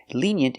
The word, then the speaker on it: lenient: Lenient is the opposite of strict. Pronunciation lenient. The first vowel is a long e like green beans.